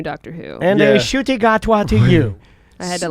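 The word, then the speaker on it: Ncuti Gatwa: Shuti Gatwa is the new Doctor Who. And Yeah. a shooty gatwa to you.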